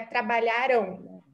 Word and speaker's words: trabalharam: Então, sempre lembrem, quando a gente tem um M no final, normalmente a gente vai fechar a pronúncia mais fechada. Então, é trabalharam.